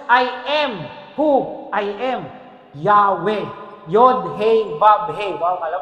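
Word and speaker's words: Yahweh: pinakamasakit y hw Anong basa raw diyan yahwe kasi nilagyan nila ng mga vowels kasi hindi raw nila binibigkas yan diyan din yung pangalan na Jehovah yun din yun eh nilagyan nila ng bower so yahwe Jehova iisa Hindi lang nila ginamit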